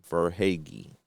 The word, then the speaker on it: Verhaeghe: Verhaeghe.